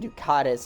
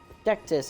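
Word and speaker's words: Dectus: we've made it to the Grand lift of decdis I don't know why I was getting Ducatis out of that but ductus is how it's pronounced and you know typically if we wanted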